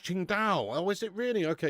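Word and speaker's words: Tsingtao: Oh, it's pronounced Ching Dao.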